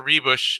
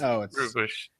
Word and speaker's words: Ruebusch: with my co-host Connor rebush and I believe somebody's been giving me some for mispronouncing your last name as rubush if I if I